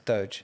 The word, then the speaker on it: doge: not how it's pronounced i think he's going for doge it's doge is it doge doge quinn i mean